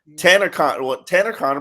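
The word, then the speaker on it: Tanner Conner: When we first started camp, Tanner Connor, did I say it right? Name yes, right? You did. Well done. I've been working on it. Tanner Connor put him on a Metro Rail.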